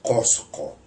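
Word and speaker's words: Cozco: Le mencioné el caso de Garcilaso, que escribe efectivamente Cusco con Z, pero no Cusco, sino Cosco.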